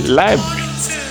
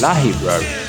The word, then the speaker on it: library: Some people say library, but it's library, library.